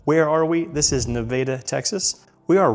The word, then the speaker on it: Nevada: Again, it's Nevada, not Nevada, not Nevada, Nevada. I grew up here. That's how you say it.